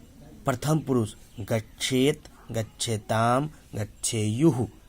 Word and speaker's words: गच्छेयुः: प्रथम पुरुष गच्छेत, गच्छेताम, गच्छेयुः। थू नहीं, य है, य। गच्छेयुः।